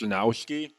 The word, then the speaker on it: Chrzanowski: if you, just because you're wondering how to pronounce my last name, it's Chrzanowski. It's if you're looking for ethnic origin, it's Polish.